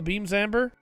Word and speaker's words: Beam Zamber: Yes, you heard me right. I didn't say it wrong. The Crossbone doesn't use Beam Sabers. It uses Beam Zambers. Why that is, I don't know. I just know they're called Beam Zambers.